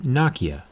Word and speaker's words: Nokia: Depending on what side of the planet you're on, Nokia could also be pronounced Nokia, but either way, let's get started.